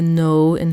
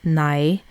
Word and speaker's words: nei: So the word for no in Faroese is nei, but then people will say noi for that.